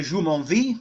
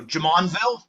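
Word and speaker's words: Jumonville: see the Enen de Jumonvi. Uh, since we're in western Pennsylvania, we mispronounce everything. So, Jamonville, that is he is killed at a small skirmish.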